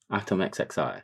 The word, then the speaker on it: ATVMXXI: It's going to say in his bio, pronounced ATVMXXI. There you go. We got it, bro. Oh, actually, I was like, where are you reading? Atom. Oh, atom, yeah. XXI. Atom XXI.